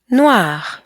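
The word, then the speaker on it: noire: Once again, blanc, blanche, noir, noir. So sometimes, even though we're adding an E, the pronunciation actually stays the same as you can hear.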